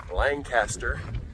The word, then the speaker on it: Lancaster: came out of the town of Lancaster California yes for those of you in Pennsylvania it is somewhat blasphemy to say it that way to us but uh that is where we were that's how you say it out here so we just spent